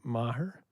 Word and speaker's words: Maher: The character, and again, I'm going to ask about pronouncing his name, Maher.